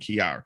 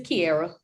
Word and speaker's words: Kiairra: I've been saying both it's been Kiera and Kara which one which one is it it's Kiera Kiera okay cuz I see